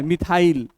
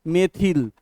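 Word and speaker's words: methyl: जैसे स3 क्या है मिथाइल नहीं एक्चुअली इसका उच्चारण क्या है मेथिल हम लोसे बोलते मिथाइल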